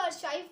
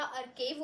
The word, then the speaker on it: archive: So ACHRIEV archive, काफ़ी सारे लोग इसको अर्चाइव पढ़ते हैं बट ये अर्चाइव नहीं होता, अर्केव होता है इसका प्रोनाउंसिएशन.